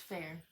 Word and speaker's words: Feyre: Anyways, I can't even remember how to pronounce it now. It's Fair.